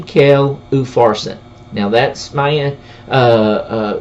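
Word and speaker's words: Upharsin: mine mene t kel ufarsen now that's my end uh uh to the best of my ability the way that it should be pronounced mine t kell oofarson two mayonnaise a tkel and a ufarsen uh verse 26.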